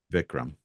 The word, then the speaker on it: Vikram: No, I would prefer to be referred to by my first name, which is pronounced Vikram. Vikram. Perfect. Okay. That makes me nervous, but I'll do it anyway. Okay, Vikram.